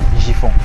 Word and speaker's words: Njifon: Déjà comment ça se prononce? Djifon.